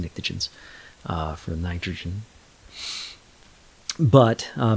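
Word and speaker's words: pnictogens: the oxygen group uh the pens actually it's a silent P they're just nicens uh for nitrogen but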